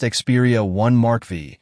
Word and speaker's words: Xperia 1 V: The Sony Xperia 1 V, pronounced Xperia 1 Mark V, launched back in 2023 is Sony's premium flagship.